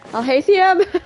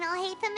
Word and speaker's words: Alhaitham: Alhaithium. I know I butchered your name. It's not like we just spent a whole entire Archon quest with each other. We haven't seen Alhaitham anywhere.